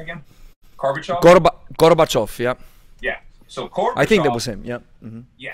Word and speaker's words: Gorbachev: Can you pronounce his name again? Gorbachev.